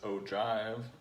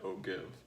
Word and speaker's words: ogive: The right way to pronounce it is Ogive, but it's written Ogive, so I will always say Ogive.